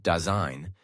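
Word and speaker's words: Dasein: Daign pronounced daine literally translates to being there or presence.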